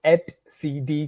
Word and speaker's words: etcd: object so one of these objects is called s CD cluster we call it at CD cluster I myself had uh quite a trouble you know pronouncing this first time I uh started learning